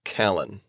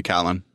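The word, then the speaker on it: Kalan: colon i would say i would say callan callan okay we usually stress the first symbol syllable so her name is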